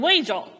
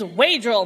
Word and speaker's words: Waegell: the prosecutor Mr knittle kept mispronouncing wagel and so in true George fashion my grandpa declares the name is wadral Mr Diddle some in the